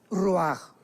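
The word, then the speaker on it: רוח: parte espiritual que es la palabra roach, que se pronuncia roaj.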